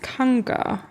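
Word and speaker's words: cangue: It's French from the Portuguese kanga. Okay. But where the fuck is my pronunciation guide? Kang. It's literally Kang.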